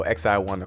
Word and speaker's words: XiOne: i o n and tend to be pronounced more like the acronym so the x the letter i and the number one so x i one and this is according